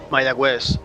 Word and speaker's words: Mayagüez: Mayagüez. Okay, I know where they're at. Oh, that's weird. Okay. Mayagüez pronounced.